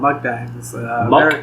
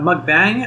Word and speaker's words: mukbang: oh these are called mug bags bangs pronunciation for the people it's uh mukbang uh monk as in uk i think it is right like pokemon like m-u-k muk and then just bang yeah yeah yeah so